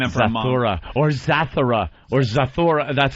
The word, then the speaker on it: Zathura: Or Zathura.